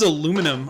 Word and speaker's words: aluminum: This is aluminum or aluminium, depending on your pronunciation of that, and so it's still using